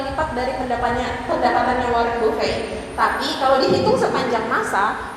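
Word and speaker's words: Buffett: Warren Buffet. Nah, Buffet ya bacanya bukan buffet. Tulisannya Buffet sih.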